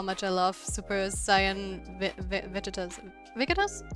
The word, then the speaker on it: Vegeta: It's like vegetable just without the bowl. veget as the Japanese say it.